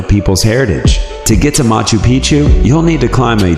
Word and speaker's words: Machu Picchu: that as well foreign Machu Picchu Peru when a place rhymes with picture you can almost bet